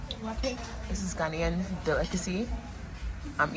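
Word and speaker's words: waakye: What do you pronounce this? Wachi or Waki? Waki.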